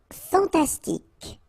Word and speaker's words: fantastique: Fantastique, okay, Q-U-E at the end, K, okay, tic. Fantastique, fantastique.